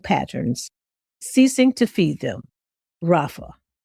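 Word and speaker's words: raphah: Now, let's consciously shift Our conscious shift word today is called Rafa. It's spelled R A P H A H.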